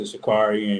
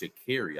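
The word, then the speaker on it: Sha'Carri: them shout out to Shakari and you know the four four by one team you know they they took that thing home so you know you know she said her name is pronounced shakeri I didn't know that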